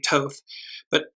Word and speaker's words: Thoth: It's the red ibis that was associated with, I pronounce it as Thoth, it may be Toth, and you note that there's what looks like either a mountain or a pyramid in the far back.